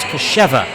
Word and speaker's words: Kostrzewa: New pitcher for the Pierre Trappers is Casey Kasheva. Second time he has pitched in this inning. Has a very interesting spelled name. It is Kostrzewa, but pronounced Kasheva.